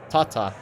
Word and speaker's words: Tata: Although Tata have, or Tata, or however you want to pronounce it, we pronounce it Tata.